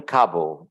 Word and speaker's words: Kabul: In Kabul. Usually in English they pronounce it Kabul. Kabul, okay. Yeah. But I don't know how they pronounce it in their language. But in English, that's how we hear.